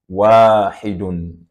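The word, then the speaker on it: واحد: And in words, it is pronounced as wahidun, wahidun, 1.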